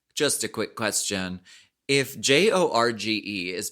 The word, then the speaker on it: Jorge: If J O R G E is pronounced Jorge, why isn't Georges pronounced Horgees?